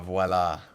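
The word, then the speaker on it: voilà: Uh, voila with a V. So many Americans say voila.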